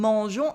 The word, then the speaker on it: mangeons: And you can notice as well that the I in mangeons is silent and the S as well.